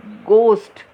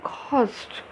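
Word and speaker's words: ghost: यहाँ पर we don't pronounce as गोस्ट, this is घोस्ट. Okay, so वाई are people afraid of घोस्ट?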